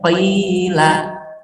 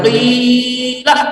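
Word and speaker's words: قِيلَ: Dibacanya panjang juga 2 harokat. Cara bacanya qila. Nggak boleh panjang qila, nggak boleh. Harus 2. Qila. Jadi kayak berayun sedikit.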